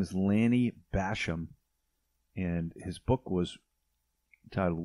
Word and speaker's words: Bassham: bashing yourself yeah so lanny's last name is like bass like the fish b-a-s-s and ham as in the meat basham i think he pronounces it though and uh i